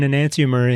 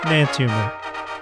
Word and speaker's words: enantiomer: There's an excess of one anantimer in here. I think we got a winner. Anantimer. E N A N T I O M E R. Anantimer. What a mouthful. Those five syllables.